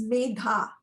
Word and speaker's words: Medha: It's a hard sound to make because it's Medha, so it's Megha.